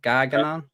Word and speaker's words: Gargano: Gargano.